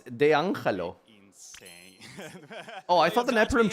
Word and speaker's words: D'Angelo: Do you think why is he pronouncing it so incorrectly? It's D'Angelo.